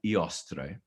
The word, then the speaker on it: Eostre: But her name is something like Eostre, which is spelled E-O-S-T-R-E for those of you who care.